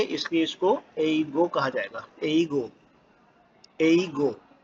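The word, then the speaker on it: 英語: वहाँ के रहने वालों को ओसुतोरारिया जिन कहा जाता है, और चूंकि ऑस्ट्रेलिया में भी इंग्लिश बोली जाती है इसलिए इसको एईगो कहा जाएगा, एईगो, एईगो।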